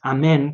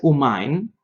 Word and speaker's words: Amén: a eso ya la la pronunciación correcta para e para la palabra Amén es Amén como yo acabo de decir no es umain umain es la forma de los ashkenazim del centro de Polonia no todos los ashkenazim